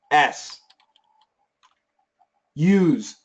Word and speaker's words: use: This is useless noun. S use. What do you use? I use a PC. I use an iPhone. Use. It's a verb. It's a Z.